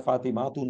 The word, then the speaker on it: ফাতিমা: আদি কারণ এটা আসলে লাস্টে একটা সঠিকভাবে উচ্চারণ করলে যেমন আমরা ফাতিমাহ এভাবে করে বলতে হবে আসলে এটা ফাতিমাতুন এ ধরনের ছিল বাট এটা আমাদের বাংলা উচ্চারণের জন্য আমরা আর হটা বলি না এটা এরাক এরাবিক থেকে যেন বাংলায় কনভার্ট হয়ে গেছে যে ফাতিমা হটা আমরা আমাদের জাস্ট ফাতিমা ফাতিজা এভাবে আমরা সো বেশিরভাগ